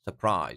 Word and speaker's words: surprise: same where right S surprise second syllable surprise you see second syllable is higher surprise and then famous